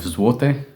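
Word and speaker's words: złoty: worked out about 85 zwote um it spelled zloty but apparently pronounces which is the Polish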